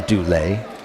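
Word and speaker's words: Duley: So it is Dulé.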